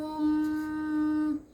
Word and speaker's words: ओम: ऐसे नहीं करना होता ओम का उच्चारण ओम, इस तरह से नहीं, ऐसा करना होता है ओम, जैसे भोरा भिनभिनाता है जी, भंवर की आवाज की तरह।